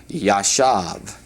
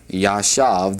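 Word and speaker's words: ישב: And then the word to sit is a word that occurs often in the Hebrew scriptures and this is pronounced Yashave. Yashave, the word for sit.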